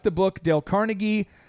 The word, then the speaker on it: Carnegie: like the book Dale Carnegie his name's actually pronounced Dale Carnegie I read his book